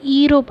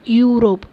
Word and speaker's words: Euro: இங்கே ஈரோப் அப்படின்றத ப்ரொனவுன்ஸ் பண்ணக்கூடாது, யூரோப். ஸோ இங்கே கான்சனன்ட் சவுண்ட் யூ வருது, அதனால் ஆ அப்படின்ற ஆர்டிக்கல் தான் வரும்.